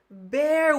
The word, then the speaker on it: bear: Dalton says, I remember our last meet in Grovoation where we pronounced bear and not beer. Exactly. It's bear with me, not beer.